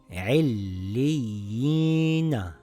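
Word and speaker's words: عِلِّيِّينَ: read – عِلِّي يِينَ This reads I’llii, remember the long vowel ya if it has a kasra on the letter before it we stretch it. I’llii. Same as this one yiina, not yina, yiina because of the long vowel yaa.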